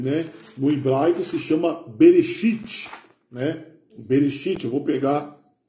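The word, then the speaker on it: בראשית: Bereshit, é assim que se pronuncia, tá bom?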